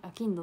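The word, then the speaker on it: 商人: 読み方が難しい、商人じゃなくてアキンドって読むんだよみ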